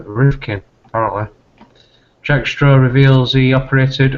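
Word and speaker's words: Rifkind: for Access scandal um I was made aware that I pronounced her name wrong um so do apologize for that it's uh Malcolm roofkin Jack straw reveals he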